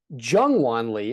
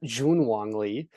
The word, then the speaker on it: Jungwon Lee: I did win money in DraftKings thanks to, as Liam correctly mispronounced, Jungwon Lee, not Junwon Lee, 5,400.